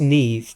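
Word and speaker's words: Niamh: um ni MH it's it's an Irish name it's pronounced NE but her name is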